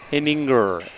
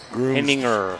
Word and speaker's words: Henninger: Henninger. For Kelsey Clark. Henninger. Henn, Hen, I-N-G, Ing-er. Henninger.